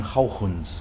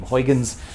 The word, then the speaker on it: Huygens: a dutch scientist named christian haugens most uh americans are lazy and uh just pronounced his last name huygens uh which i will